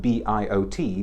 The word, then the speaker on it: Biot: It's always confusing with those sorts of things, because there's a tiny little town right next to Antibes, whose name is spelled B-I-O-T, but there you do pronounce it because it's Biot.